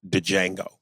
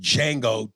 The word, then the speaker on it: Django: because I pronounce it Django yeah when the Jay is supposed to be silent I pronounce d Jango Django the same way say I seen it instead of I saw it I and I know you know that it's Jango but you have refused to